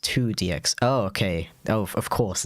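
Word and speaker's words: IIDX: very much late response i o i i d x pronounced two dx okay oh of course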